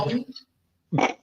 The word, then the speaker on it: Yowie: Yowie? I know I'm saying that wrong. You were saying it correctly, but we're also 12.